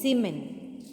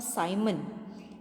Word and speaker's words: Siemens: also called as mho, or one more name is Siemens or Simon. You can pronounce it as you want because it is the scientist's name.